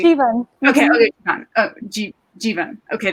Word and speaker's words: Jivan: And one of the scenes that I found so powerful in your book is that Giovanni, is that how you say her name? How do you say? Jivan.